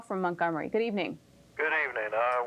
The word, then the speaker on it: Montgomery: your city's name am i doing it incorrectly montgomery is the way we pronounce it i thought i was doing just